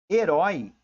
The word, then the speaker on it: herói: o assento da plateia também herói é uma oxítona É porque ela tem a última sílaba mais forte né o papel é